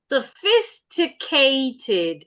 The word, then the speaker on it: sophisticated: s s s s sophisticated not sophisticated sophisticated again sophisticated no you're skipping a syllable sophisticated sophisticated sophisticated okay that's better thank you Abdullah Ah, please unmute.